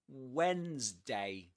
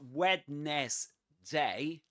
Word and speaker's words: Wednesday: Wednesday. It's not wetness day, but Wednesday. Wednesday. Wednesday. Pretend it's spelled like this.